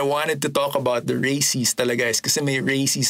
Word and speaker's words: Racies: to talk about the Racies talaga is kasi may Racies sa dulo. The Racies, that's why I call it the Racies series. The Racies series. And it rhymes with crazy or race.